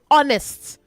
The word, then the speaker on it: honest: Both of you international school and silver sands honor say honest not honest. Okay. Honorable not honorable. All right. So the H is silent in honor. It is silent and honest.